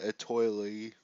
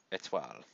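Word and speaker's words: Étoile: I was going to say Shokugeki no Souma Etoile like an American, but it's Etoile.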